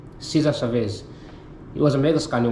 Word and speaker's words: Cesar Chavez: He was advocating uh Chavez full name he was um Cesar Chavez. That's how you pronounce his name. Caesar Chavez.